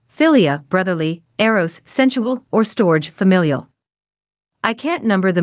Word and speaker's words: storge: that is translated love, the Greek word, storge, pronounced storge. This word is also not used in the New Testament. It is used to refer to familial love. Here's how the website Crosswalk defines storge. Storge, pronounced storge, refers to familial love, a deep